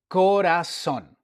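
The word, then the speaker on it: corazón: And this is co Ko sound as in the word. Corason. Okay. Okay, with the accent on the O corason as in heart.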